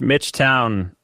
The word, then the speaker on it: Towne: Mitch Town, everyone. You can look there. Hi. With an E. Mitch made uh town with an E. That's right. Made sure that I pronounce it correctly and it's pronounced uh town,